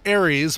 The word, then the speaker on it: Aries: But it's supposed to be Aries, A-R-I-E-S, like the astrological sign. Mm-hmm. The upcoming Tron sequel is called Aries. Oh, is that all? That's all. That's A-R-E-S, though, like the God of War. Yeah, that's true. Yeah. So, pronounced the same, though, right?